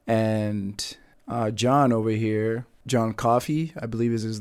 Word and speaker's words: Coffey: John Coffey. Like to drink. Only not spelled the same.